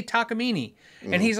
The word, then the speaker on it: Takamine: And I go, no, you just say Takamine.